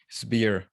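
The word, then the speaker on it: SBIR: i r and then how do you say it marco spear like super spear like the spear that you can okay and the four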